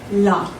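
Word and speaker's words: لا: So the first word is 1 syllable. I want everyone to say la.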